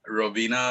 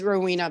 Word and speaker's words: Rowena: started beginning with with rovina again also robina if i'm mispronouncing your name please correct me uh no that that's fine it's it's rowena but it's it's it's